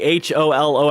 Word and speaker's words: Hololive: Jill is lost in thought about a holo planet.